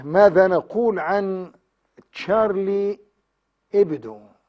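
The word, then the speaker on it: Charlie Hebdo: ا ماذا نقول عن تشارلي ابدو هي تكتب الاتش هبدو لكن هي سايلنت فتلفظ تشارلي ابدو جريده ساخره يعني جريده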